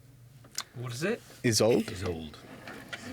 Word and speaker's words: Isolde: and my name is Isolde." What is it? Isolde? He's old. is old. Yes. ISOLD. Is he old? Yes. Spelled the same add an E.